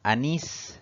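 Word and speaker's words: anís: siguiente palabra pal es Anis si dividimos en sílabas tenemos dos sílabas la mayor fuerza recae en la última sílaba contando siempre de derecha a izquierda es una palabra aguda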